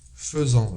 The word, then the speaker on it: faisons: fais il elle fait nous faisons je prononce faisant mais j'écris je n'écris pas FEF nous faisons vous faites il